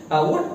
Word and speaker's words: what: What को थोड़ा सा what made you speak, what made you said, what made you laugh. तो ये जो what है इसमें हा नहीं आता, एच साइलेंट रहता है.